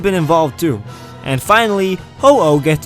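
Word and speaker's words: Ho-Oh: Wales could have been involved too and finally hoo gets its name and origin from the Japanese Phoenix fun in Japan this bird is pronounced hoo another interesting fact about hoo's name is that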